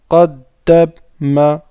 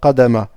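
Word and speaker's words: قَدَّمَ: Ensuite, on a qaddama. Qaddama. Qaddama. D'accord? Qaddama. Pas qadama. Qaddama. C'est pas évident des fois avec la shadda pour redescendre en fait pour la lettre d'après, mais inshallah il faut s'exercer.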